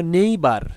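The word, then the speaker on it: neighbour: তারপরে দেখো নেইবার, নেইবার এন ই আই জি এইচ, এই পর্যন্ত উচ্চারণ হলো নেই, আর বি ও ইউ আর বার, নেইবার, কিন্তু এটা আমাদের ব্রিটিশ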